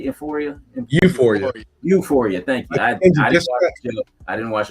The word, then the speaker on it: Euphoria: Emporia? Am I saying that right? Euphoria.